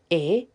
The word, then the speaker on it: Atropa: Her name's Atropa and it is spelled Atropa, but it is pronounced Atrowpah.